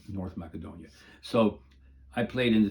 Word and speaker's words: Macedonia: It was in Macedonia, or Macedonia, as it's properly pronounced in the Macedonian language.